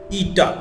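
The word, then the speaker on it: η: ईटा, ये जो एन की शक्ल का है इसको हम ईटा पढ़ते हैं, और ये क्या होता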